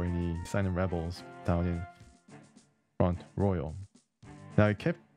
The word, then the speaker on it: Front Royal: canada i'm canadian and i was kind of influenced by the use of french language in this country the official languages are